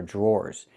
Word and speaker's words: drawer: The dr makes a J sound like in juice and jump. Plus the R. J. Then we have the or sound like more in door.